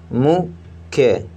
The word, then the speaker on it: मुख्य: अगला शब्द है माँ में छोटू को मात्रा तो मुँह, आधा खा है और फिर या है, तो आधे खा को उच्चारण या के साथ में पढ़ेंगे। मुख्य, मुख्य।